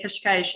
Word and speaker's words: Cascais: not the brazilian but the portuguese way to say kashkaish is to say kash